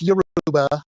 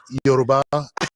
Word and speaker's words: Yoruba: It's Yuruba. And I'm going, it's Yoruba and Yoruba. And she just looked at me like, out of my like, okay, I get it. You can mispronounce it.